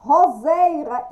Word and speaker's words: roseira: Roseira, isto, roseira. Pronúncia com Z, escrita com S.